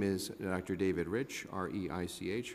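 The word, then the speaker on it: Reich: David rich rei CH r apologize for my own mispronunciation I'm the president and chief operating officer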